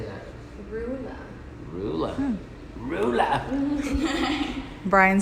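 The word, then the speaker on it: Roula: Rula.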